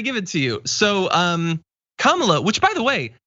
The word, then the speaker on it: Kamala: who was on, said her name is pronounced comma, like the punctuation mark, Kamala.